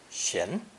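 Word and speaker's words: 閑: our final character is a tree inside the double door element pronounced shin and sometimes used instead of the same sound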